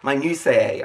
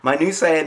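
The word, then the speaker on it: minutiae: something my new say that's m i n u t i a e I didn't PR I didn't say my new my new say I think that's how it's pronounced if I'm wrong wrong too bad it's me I'm saying it now it's pronounced that way my new Sayer means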